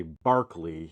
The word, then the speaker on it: Berkeley: We say Berkeley, but they say Barkley in the UK.